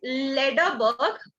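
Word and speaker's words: Lederberg: Ma'am एक बार आप scientist का नाम हम एक बार प्रोनाउंस करिए ना। हाँ, लेडरबर्ग and Tetam, लेडरबर्ग and Tetam, okay thank you ma'am.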